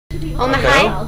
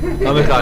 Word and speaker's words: Amichai: Onto Omahai? How do you say it? Omahai? No, it's I'm Michael. Omihai? I'm Michael. Omihai? Amichai.